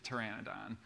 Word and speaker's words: pteranodon: this one pteranodon no the p is silent it's pteranodon so you don't say the p all right um so